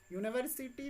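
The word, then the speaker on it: university: लेकिन आपको ये ध्यान में रखना है कि हम जो उच्चारण कर रहे हैं यूनिवर्सिटी, अगर हम इसको हिंदी में लिखते हैं तो हमारा यो आता है वाई।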